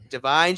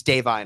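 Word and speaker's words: Da'Vine: Divine Joy Randolph. Or it's Davine, I believe. Sorry, I made to mispronounce it.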